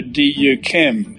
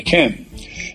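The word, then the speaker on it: Yquem: any of that Chateau Du chem I can't even actually remember what he said but he mispronounced the great French dessert wine Chateau Ken because it looks awkward to say and I said no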